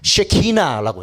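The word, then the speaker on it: שכינה: 이 발음 조심해야 돼요. 강선생님 이 중1 때 아직도 기억나. 중1 때 우리 과학 선생님이 경상도 키 작은 여자 선생님인데 항상 이 쬐끄만한 자를 들고면서 쉐키만 막 이러고 있어. 그 발음 잘해야 돼. 이 쉐키나.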